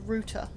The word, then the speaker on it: router: distinction because you know english people say root not route just like we say